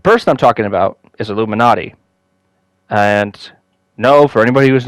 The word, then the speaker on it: Illuminaughtii: a name that's that basically is pronounced as Illuminati but it's spelled very differently uh we'll be in